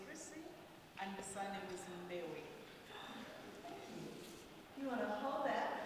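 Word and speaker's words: Mbewe: It's Mewe. M-B-E-W-E. So it's pronounced Mewe. Yes. So the first name is Christie, and the surname is Mewe.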